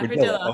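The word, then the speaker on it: Ridilla: Her first name is Andrea, and her last name is spelled R-I-D-I-L-L-A. Is it Radilla? Radilla? Yeah, Radilla.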